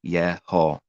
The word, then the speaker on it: Yeho: And they have the same 2 vowel points as the Father's name, and they're all pronounced Yeho. All of them that have the same letters and same vowel points are Yeho.